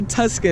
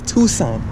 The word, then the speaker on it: Tucson: it to son so don't say Tuscan is Tucson the C is silent so it's going driver